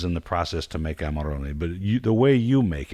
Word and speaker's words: Amarone: Amarone, we say.